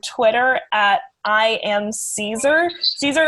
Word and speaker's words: Caezer: at i am caesar caesar is spelled kind of funny it's c-a-e-z-e-r so i am caesar